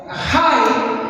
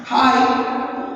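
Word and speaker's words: Hai: Y, hermanos, Josué, ¿verdad?, pues van a conquistar otra ciudad que se llama Jai, así la pronunciamos, Jai.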